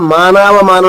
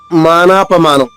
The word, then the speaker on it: మానాపమానం: ఇక్కడ మనకు కొన్ని పుస్తకాల్లో మానావమానం ఉంటది కానీ ఇక్కడ ఒరిజినల్ సంస్కృతం మానాపమానం.